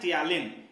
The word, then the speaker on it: ptyalin: और उस सलाइवा में एक एंजाइम होता है, एक केमिकल होता है, उसका नाम होता है टियालिन। पी से लिखाता है लेकिन पी साइलेंट है, TPTYALIN, टियालिन, ठीक है।